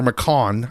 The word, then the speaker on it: McCone: McCone, or McCon, I think they pronounce it McCon.